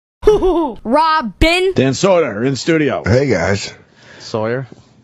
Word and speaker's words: Soder: It's a weird last name because you want to say Soda, You want to say soda. but it's you- Soder, Yeah, it's Soder. which is kind of how he said soda on Long Island.